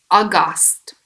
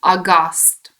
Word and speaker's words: aghast: at night so worried or angry number three Auguste so be careful of the pronunciation August August it means shocked worried or surprised in